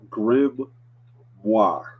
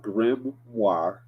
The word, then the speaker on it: grimoire: I put a word in the chat it's pronounced grim moi Grim y so I put the word in the chat it's called grimoire that's how you pronounce it and if you're